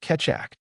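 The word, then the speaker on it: Keccak: Similar to the AS competition, after 5 years of public cryp analysis, the Ketchac algorithm, pronounced Ketak, was selected in 2012 and standardized as S.H.A.-3.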